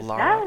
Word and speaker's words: Lara: gifts i'm dan and with us today is laura right did i pronounce it right kind of like lara yeah yes okay you got it nice to